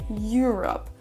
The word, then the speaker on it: Europe: On ne dira pas Europe comme on le dirait en français, mais Europe. Europe. On a un petit peu un son you au début. Et la deuxième erreur qui fait qu'on aura du mal à vraiment après bien comprendre ce mot quand il est prononcé par Mbappé dans son interview, c'est l'accentuation de nouveau. Donc on accentue le mot Europe sur la première syllabe.